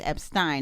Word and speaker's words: Epstein: I've learned from a listener that it's like Frankenstein, so it's Epstein, not Frankenstein.